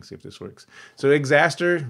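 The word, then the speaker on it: Xastir: if this works so xaster rhymes with disaster is kind of an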